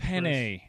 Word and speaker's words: Penei: It's Penei. Even if you're not gonna, even if you pronounce it a way that Polynesians are gonna look at you sideways, at least say it like the pasta. Then you're close enough. Okay.